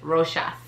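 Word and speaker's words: Rochas: one's easy so yes that is how you pronounce it roshas i was today years old when i knew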